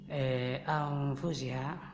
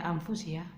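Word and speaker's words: أنفسها: Anfusiha, kalau kita baca kitab itu tidak ada itu hukum makhraj, tidak ada itu dimasukkan hukum tajwid dalam baca kitab. Baca saja anfusiha, jangan anfusiha, kan itu bukan Quran.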